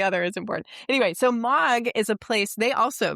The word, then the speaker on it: M3AAWG: Anti-Abuse Working Group and the acronym is M3AAWG and it's pronounced mog, which isn't so bad. So, getting from one to the other is important. Anyway, so mog is a place they